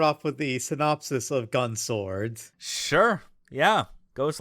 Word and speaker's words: Gun X Sword: Or Gun Sword, I guess it's supposed to be. I don't know. The X is silent.